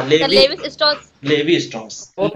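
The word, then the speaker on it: Lévi-Strauss: Levi's straws है, levy Levi's भी नहीं है, लेवी है, levy LEVI, levy Levi स्ट्रॉस है, लेवी सर स्ट्रॉस ना सर, हाँ sir levy Levi's straws Levi स्ट्रॉस बहुत है ना, स्ट्रक्चरल एंथ्रोपोलॉजी दिया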